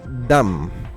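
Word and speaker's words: דם: Además hay que mencionar que la palabra sangre en hebreo es dam. Dam. La palabra sangre en hebreo es dam. La pronunciación se utiliza desde el principio en el mensaje bíblico hebreo para referirse a la sangre.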